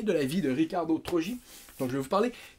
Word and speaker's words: Trogi: Donc pourquoi on dit Trogi, même si ça s'écrit T-R-O-G-I? Très simplement parce que son père s'appelle Benito Trogi, en 1937 en Italie.